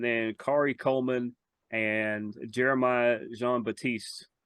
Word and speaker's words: Jean-Baptiste: Kari Coleman and Jeremiah Jean-Baptiste I'll go ahead and give him the French pronunciation because it probably is they split one I